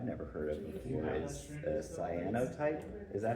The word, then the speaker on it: cyanotype: One thing that I've never heard of before is cyanotype.